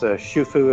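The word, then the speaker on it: Xu Fu: People looking for spelling on that, look at XUFU. And so it's pronounced Shufu, as if I've got that right.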